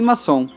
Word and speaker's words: Masson: ainda me explicou que em dialeto Veneto o nosso sobrenome que Originalmente é escrito com dois z em italiano se pronuncia como se fosse com dois s tá aí explicado o